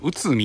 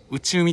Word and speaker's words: 内海: 案内がありますこれ内海って読むんですよ内海なんか内海って呼んでしまいそうなんですけど内海なんですよね駅前はこんなロータリー